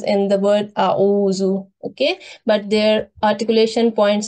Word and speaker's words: أعوذ: Okay, so Alif should be pronounced in soft voice and Ayn should be pronounced in a bit deeper voice. Okay, so yeah, with a little more effort, I should say. So it is A'uzu. Try to distinguish between the sounds of Alif and Ayn. Both are pronounced from the throat, but their articulation points are a little different.